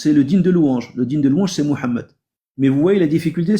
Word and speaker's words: Mohammed: Au lieu de dire Mohammed, ils vont dire Mohammad ouham.